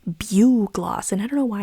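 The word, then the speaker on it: bugloss: I found a video that said it's pronounced Bug Gloss. And I don't know why I didn't read it as BU gloss, but I just saw bugless.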